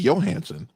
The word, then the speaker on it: Johansson: she's your hand or scandinavian it would be johansen all right all right oh she's she's rushing